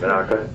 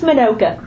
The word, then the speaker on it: Minoka: How's my pronunciation, Manaka? Close, it's Minoka. Manoka, okay.